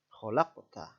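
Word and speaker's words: خلقت: Syafawi selanjutnya pada lafal khalaqota hukum bacaan yang berlaku adalah Qolqolah Sugro alasannya adalah huruf qaf sukun terletak di tengah-tengah kalimat cara membacanya yaitu dibaca memantul kecil kholak peta kholak kota contoh tajwid yang selanjutnya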